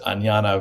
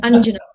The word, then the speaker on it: Anjana: last but not least anjana vazan hi anjana hi hi sorry it's angina sorry apologies for mispronouncing um so you like